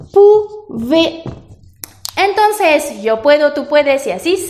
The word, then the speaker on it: pouvez: Y la pronunciación es pouvons, con sonido nasal, y aquí pouvez.